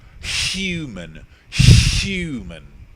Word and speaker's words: human: Now, in order for human to be pronounced with the H being a vowel, or with the H being omitted entirely, I would have to be surely quite common, like a Cockney.